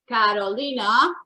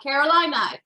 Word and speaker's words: Carolina: So I'm gonna take 45 seconds to tell you that my name is Carolina, not Carolina. Caroline. I know it's spelled like North or South Carolina, but it's spelled Carolina.